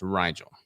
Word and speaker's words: Rigel: it um rigel or maybe rigel so it's r-i-g-e-l-pronounced rigel yeah and it's uh it is rigel the